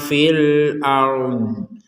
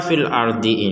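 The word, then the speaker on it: في الأرض: Jadi kita tidak sekedar mengucapkan rnya fil ar. Kalau fil ar ada huruf dod di sini yang memiliki hak untuk dibaca maka kita harus membacanya.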